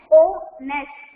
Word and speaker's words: honest: See, here honest because H is silent here, okay? H is silent. We never read this word as honest. It is wrong. We read it as honest.